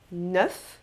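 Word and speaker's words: neuf: 9. Tem que pronunciar o F no final e o som é meio aberto, assim, ó. 9.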